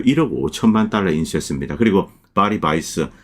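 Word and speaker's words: Weiss: 그리고 바리바이스 뭐 바이스가 이게 이제 독일식 발음인데 어쨌든 이렇게 그 본인이 원하는 대로 불러 줘야 됩니다.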